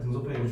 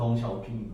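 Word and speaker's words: 鄧小平: 중국어로 읽으면 시진핑이 발음이나 여기도 등소평을 한자로 읽으면 등소평이 중국면 샤오핑 거지 샤핑 샤오핑이고 여기서 흑묘백묘론이란 걸 얘기해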